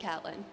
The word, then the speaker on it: Catelyn: Yes, it is spelled Caitlyn, but I promise it's pronounced Catelyn.